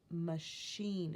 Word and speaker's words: machine: And also we might notice that CH, which normally says ch, is saying machine. It's saying the sh sound. We think that should be spelled SH, but in fact, in some cases, it's spelled CH.